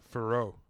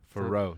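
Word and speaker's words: Fiorot: Manon Farrow. Farrow.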